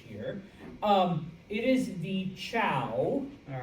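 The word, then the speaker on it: Zhou: Um it is the cow. All right, it is pronounced ciao that um is in charge.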